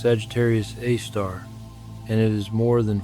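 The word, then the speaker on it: Sagittarius A*: This object is called Sagittarius a asterisk, pronounced Sagittarius A star, and it is more than 4 million times the mass of our sun.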